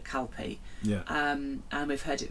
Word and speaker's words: Calpe: name of this place, Calp or Calpe. Sometimes it's spelt CALP, and sometimes it has an E on the end of it. Yeah. So we decided to call it Calpe.